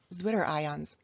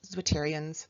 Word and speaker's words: zwitterions: amphiprotic and amphoteric are Zwitterions. I've also heard this pronounced Zwitterions, but I learned it Zwitterions, so that's what I'm going to say. But if your teacher says Zwitterions, also correct.